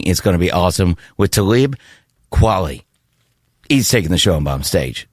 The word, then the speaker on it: Talib Kweli: Talib Kweli. So. Kweli.